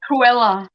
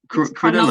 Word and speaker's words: Cronulla: He said Cruella. Cronulla.